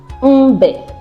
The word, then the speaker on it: mbe: Then M as a syllabic nasal is pronounced as is a nasal sound.